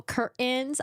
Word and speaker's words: curtains: You don't pronounce the T in the middle. Curtains.